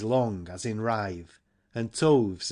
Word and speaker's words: toves: as in rive and toves is pronounced so as to rhyme with groves again the first o